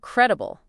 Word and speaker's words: credible: Now, let's talk about credible. This word really speaks to the trustworthiness of information, doesn't it? Absolutely. Credible. Stress on the first syllable.